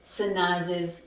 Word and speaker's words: Sanaz's: I added an extra syllable. And the reason why I had to add an extra syllable right here, when I added this apostrophe S, the reason why I added the syllable is, Sanaz is is because the name ends with a z or a s or a sh sound.